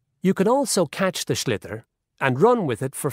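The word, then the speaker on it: sliotar: This is what it looks like, and basically you have to get this ball, called a schlitter, that's S-L-I-O-T-A-R, so it's not spelt the way it's pronounced.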